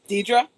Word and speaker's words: Dedra: make sure I'm pronouncing Can you pronounce your name for me? Uh not Miss. Dedra. Dedra. Okay. I didn't want to pronounce it. I was about to call you Deborah.